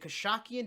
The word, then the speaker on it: Khashakyan: Is it Khashakyan?